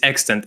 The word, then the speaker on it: EXTNT: Is it extent? Extent. So, the actual proper way you should spell it is extant.